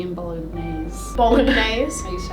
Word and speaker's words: bolognese: I used to pronounce the G in bolognese.